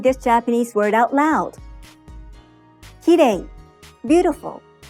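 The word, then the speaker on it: きれい: English native speakers often pronounce it like the R sound in English and say, kirei. You should lightly tap the roof of your mouth with the tongue, but don't roll it.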